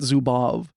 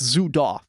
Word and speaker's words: Zudov: It ends with a V, but in all the pronunciations it's off. It's Zudaf.